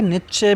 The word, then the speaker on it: Nietzsche: ये important quotation है नित्से का। उनके नाम का प्रोनाउंसिएशन दोनों होता है, नित्से भी होता है, नित्चे भी होता है, फ्रेडरिक नित्चे या फ्रेडरिक नित्से।